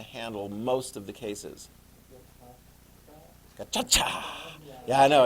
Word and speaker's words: Gacaca: Gacaca. Yeah, I know. It doesn't have a CH, but that's how you pronounce it.